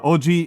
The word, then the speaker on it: oji: It's It's not uh They're pronounced the exact same way in English, but they are different words. They are different words. Uh, they are different words. Uh, oji is, uh, short for ojisan, which is just uncle.